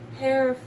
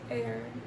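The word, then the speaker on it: heir: air fire I mean hair air what is air fire I because air I think is the H silent I think the H is silent mind blown but yeah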